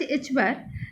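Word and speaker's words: ħ: This h cut equal to h cut, or it may be pronounced as h bar, that is equal to h by 2 pi, where this h is your Planck's constant.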